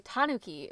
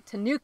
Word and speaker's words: tanuki: great example right right in Japan you say Tanuki but I mean we've probably said this before but people here say to Nuke Tanuki English-speaking Americans put it on the second syllable and in Japan a lot of times it's on the first syllable yeah but it's hard